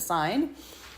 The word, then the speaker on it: sin: Basic trig functions s shortened to sin n but you still pronounce it sign.